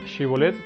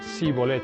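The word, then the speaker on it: שיבולת: Un ejemplo de esto son los efraimitas, los cuales no podían articular el sonido consonántico sh, y por tal razón ellos pronunciaban shibolet como sibolet.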